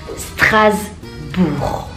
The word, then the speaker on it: Strasbourg: RCSA, Racing Club de Strasbourg, Alsace. Racing Club de Strasbourg, Alsace. Strasbourg. G-nya nggak dibaca.